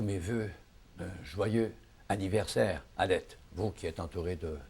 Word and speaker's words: Halette: Ben, C'est Alette? Oui, Oui. Alette. Il faudrait le dire sur un ton un peu plus léger, un peu plus éolien. C'est un nom qui est comme un souffle, en fait.